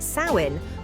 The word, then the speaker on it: Samhain: The festival of Samhain, pronounced Samhain, was born from this belief.